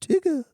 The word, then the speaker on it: Tigger: It's pronounced Tigger.